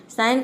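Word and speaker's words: sign: ज प्रोनाउंस करते हैं अब देखिए यहां पे साइन में आप देख सकते हैं कि ना ही ग का साउंड है ना ही ज का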